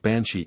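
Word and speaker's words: bean sídhe: the Welsh counterpart of the benide pronounced banshi in Anglo Irish and meaning a fairy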